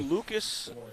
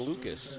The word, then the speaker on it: Lucas: fact time from Charlie Lucas Urbane does not pronounce the s in Lucas when he's at home he just says silent s Luca Luca there you